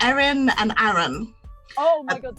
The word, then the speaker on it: Erin: I always thought of like AA Aaron is like Aaron, just like a downward sort of pronunciation, and then Aaron with an E is like Aaron, like kinda like Aaron. upward.